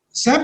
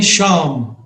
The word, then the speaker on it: Sam: And two, he couldn't pronounce my name. I am Sam Manekshaw. He used to call me Sham.